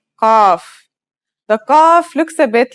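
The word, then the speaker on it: قاف: dips beneath the line think about the word call and notice how it comes from deep in the throat it's a stronger version of the letter K said with the throat constricted like in sod and bod now let's handwrite the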